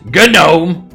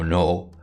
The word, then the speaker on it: gnome: shakes his head no no it's as pronounced no G is silent yeah some of you